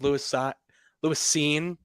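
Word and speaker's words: Lewis Cine: think it also gives Louis scene is how it's pronounced if I remember correctly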